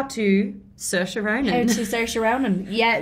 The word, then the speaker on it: Saoirse: so it's Saoirse but it's easier for Americans and English people to say Saoirse or Sasha what was the difference